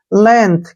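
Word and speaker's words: length: उच्चारण न हो गया जी का उच्चारण नहीं करेंगे टी एच का उच्चारण थ करेंगे लेंथ क्या पढ़ेंगे को लेंथ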